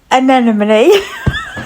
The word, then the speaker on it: anemone: as requested, here's how I would paint an anemone.